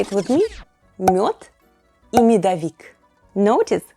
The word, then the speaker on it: мёд: But, more on that - later in the video 😎 First and foremost bees make honey or МЁД /myod/.